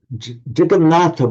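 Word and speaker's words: Jagannath: And so the jagonata which then in Hindi is pronounced jagonat came to have this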